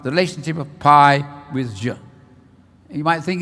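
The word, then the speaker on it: ж: So I'll tell you, I'm not very good at Russian, but it's pronounced zh. If you've heard of names like Zhukov, that begins with zh.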